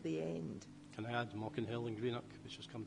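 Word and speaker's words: Maukinhill: Can I add Mockinhill in Greenock, which has come to mind? Sorry, say that again. Mockinhill in Greenock. Mocklinville? Mockinhill. Mockinhill. M-A-U-K-I-N. Greenock names. Spell it for me.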